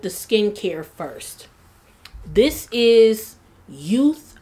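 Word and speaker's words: Yeouth: This is Youth, I believe it's pronounced Youth, Y-E-O-U-T-H, which can be actually found on Amazon.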